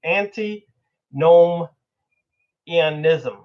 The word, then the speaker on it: antinomianism: talking about self deification and antinomianism I always butcher the word but it's auntie gnome Ian ISM we're gonna go into that deeply because I